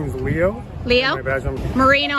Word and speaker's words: Moreno: please Sergeant my first name is Leo Leo Moreno how do you spell that m-o-r-e-n-o it's right here man you related